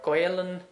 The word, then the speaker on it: Gaolainn: You might hear other pronunciations a bit like Gaeilge or Gaolainn. They're different kind of regional names for the Irish language.